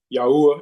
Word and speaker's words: Yahweh: Um, we're just going back to the ancient way um of the pronunciation of of the father's name, which is Yahweh instead of God and then um Yahusha instead of Jesus.